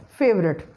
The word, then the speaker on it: favorite: Schwa sound after V is deleted and you will pronounce it as favorite.